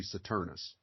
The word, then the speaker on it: Saturnus: saturnus right saturnus Saturn the Latin the Latin pronunciation would be saturnus well there's a disillusion